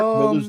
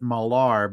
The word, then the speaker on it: Millar: 100 I think it's people pronounce it malar because there's already another Miller in the comic book industry yeah what's I think malar is a better way to go but from what I've heard from other you know top-notch comic pundants uh I.E artists that actually work in the industry they actually pronounce it Miller yeah I don't think